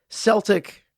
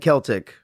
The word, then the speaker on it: Celtic: As a side note, I just looked it up, and both Celtic and Celtic are acceptable pronunciations of that word.